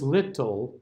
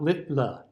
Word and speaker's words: little: way the sounds are so it's little not littler right even though we spell it littler it that's not what it sounds like okay so we have little